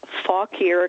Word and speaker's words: Fauquier: an old Virginia family it's Fauquier County um sounds a little naughty sometimes when the locals say it fast but it's not spilled that way no it's f-a-u-q-u-i-e-r oh good and your